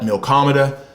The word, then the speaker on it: Milkomeda: a crypto protocol called milco maida as far as the pronunciation some will call it milkomeda some will call it something else i am going to stick with milkomeda the reason why that